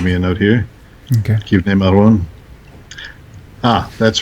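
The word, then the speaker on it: כבני מרון: Kivnei Maron. That's right. Okay, you're right about that. Yes, I was corrected. But there's a rebuttal to this correction I'm giving.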